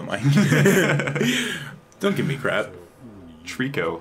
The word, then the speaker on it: Trico: Trico, like the Pokemon again. Yeah. Okay. Well, that's not how the kid pronounces it. Is it Trico? No, he can't even... Toriko! Toriko! Okay. It's just like a Japanese person saying Trico.